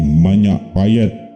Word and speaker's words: Majapahit: Namun pada tahun 1964, nama kampung itu berganti menjadi Manyapayet. Manyapayet sebenarnya sama dengan Majapahit, hanya pengucapannya menggunakan dialek lokal.